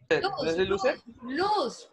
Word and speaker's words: lose: Luz, luz, se pronuncia así como yo lo estoy diciendo, luz.